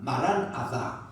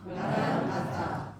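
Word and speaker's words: 마란 아타: 라고 이렇게 하는 거 그렇게 발음하지 마시고 이게 마란 아입니다 따라다 마란 아사 마란 아사 주여 오시옵소서 옵서 제가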